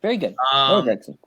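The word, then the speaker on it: Noah Gragson: Here's but I got another article: 3 possible landing spots for Noah Gregson. Am I pronouncing that? That's right. Very good. Noah Gregson.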